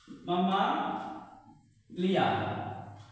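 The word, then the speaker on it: Mammalia: উচ্চারণটা কি হবে? মামালিয়া।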